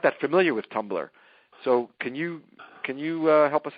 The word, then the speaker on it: Tumblr: And it's spelled without the E.